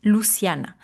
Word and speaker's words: Luciana: D'ailleurs, mon prénom en espagnol, ça se prononce Luciane, mais on le francise un peu.